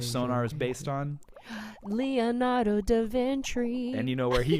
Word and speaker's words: da Vinci: vinci in 1490 that's da vinci not de virgini i didn't mean to